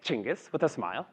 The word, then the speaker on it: Cengiz: On a good day, somebody who meets me for the first time will say, how do I pronounce your name? I will say Cengiz with a smile, they will say Cengiz with